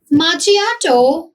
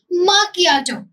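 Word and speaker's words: macchiato: माचिया नो माकिया। Repeat after me. माकियाटो।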